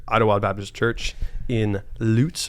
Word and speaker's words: Lutz: Wild Baptist Church in loots Florida not Lutz not LS I said it wrong a few times when I first moved here and I'm joined by